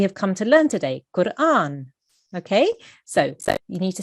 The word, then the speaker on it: Qur'an: You really need to try and pronounce the ra there. Okay, so this is what we have come to learn today. Qur'an.